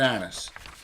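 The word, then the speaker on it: annis: Yes, Moose, it's an anise. A-N-N-I-S, anus, anise, however you want to pronounce it.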